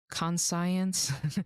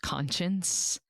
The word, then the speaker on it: conscience: Even though it's not actually pronounced conscience, it's pronounced conscience.